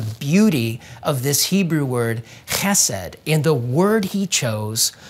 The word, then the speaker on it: chesed: in the story as this Hebrew word, chesed. And if you say it right, you're probably gonna spit on somebody near you. And chesed means kindness, faithfulness, steadfast love, and actually a lot more words than that.